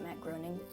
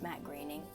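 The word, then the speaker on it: Matt Groening: supposed to stand for matte grainy most people pronounce it matt groaning but apparently it's matte greening i just learned about that but matt grayning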